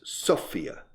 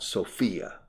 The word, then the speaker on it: Sofia: The capital of Bulgaria is Sofia, not Sophia. Like Sophia Loren, says Sofia.